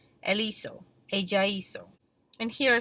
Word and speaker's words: hizo: The C changed to Z for pronunciation problems. So if we left it at C, it would say el hijo, and that's incorrect. And so they switch it to Z so we can keep that same pronunciation.